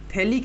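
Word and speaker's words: phthalic: নামটা কি এটার এটার নাম লেখ থ্যালিক এসিড থ্যালিক এসিড আচ্ছা পিএইচ দিয়ে স্টার্ট হয় বেসিক্যালি কিন্তু পিএইচ টা প্রোনাউন্সিয়েশন আসে না ঠিক আছে থ্যালিক এসিড যেমন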